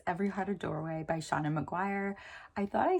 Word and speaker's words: Seanan: and that was Every Heart a Doorway by Seanan McGuire. I thought I said this author's name incorrectly when I did my March 2025 TBR, but as it turns out, you do pronounce the first name Seanan.